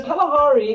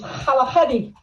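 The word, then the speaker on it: Kgalagadi: areas are is it yeah it's the the kalahari or that actually it's even harder to pronounce the real word the real word the swanna word is halahadi yeah that would be a little more difficult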